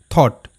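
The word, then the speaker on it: thought: তাহলে থ অট থট।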